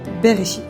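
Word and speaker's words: בראשית: Au commencement, d'ailleurs, c'est pour ça qu'on a appelé ce livre la Genèse se dit en hébreu berchit et ça s'écrit comme ça.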